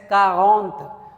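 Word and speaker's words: quarante: सो नाउ we have 40 and that is pronounced as कारगोंथ।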